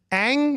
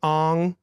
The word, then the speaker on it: Aang: wrong of characters from a show that has pronunciation of characters for you. Well, yeah, they say them. So like Aang is the name of the character, Yeah. but in this movie they're like Ong.